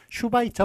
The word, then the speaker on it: 슈바이처: 많이 헷갈렸거든요 그거보다 앞에 온 걸로 봐요 그래서 슈바이처 박사가 맞고요 아인슈타인이 막혔습니다 그래서 이렇게 앞에 오면 슈로 적는 거요 발음 s를 길게 한 발음입니다 그 다음에 아